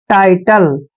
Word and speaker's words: title: TI का उच्चारण हम टाई करते हैं दोस्तों, और टी का उच्चारण ट करेंगे, LE को ले पढ़ते हैं। टाइटल, टाइटल होता है शीर्षक, टाइटल शीर्षक।